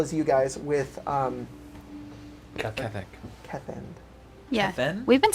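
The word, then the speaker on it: Keth'end: Kethend. Yeah. Then? We've been saying his Kevin. name wrong for weeks.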